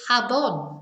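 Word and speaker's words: jabón: from the word the English word so it's habon with a j j a b o n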